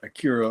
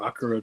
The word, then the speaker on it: Akira: Uh and this this is Ada from Akira or Akura depend Akira depending on how you pronounce it.